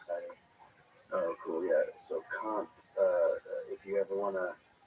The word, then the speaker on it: Kant: So Kant. If you ever want to know, It sounds like cunt, but it's not cunt. but it's not. Yeah. It's spelled like can't, but he sure does.